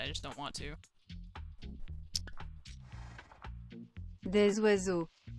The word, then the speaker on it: oiseaux: Des oiseaux. Just don't say the was. Don't say the day part. Oiseau. Des oiseaux.